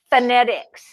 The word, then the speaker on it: phonetics: So the reality is, if I were going to spell it by sounding it out, I would say F. Phonetics starts with an F, right?